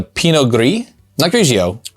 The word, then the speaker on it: Pinot Gris: forest this is a Pinot grisio Pinot Gris okay like grease it's definitely agree because